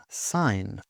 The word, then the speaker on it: sign: Silent g often comes before n sign. For example, you might sign your name on paper with a pen.